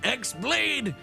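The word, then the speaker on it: χ-blade: yeah it means the x-blade it's just pronounced like keyblade even though it's just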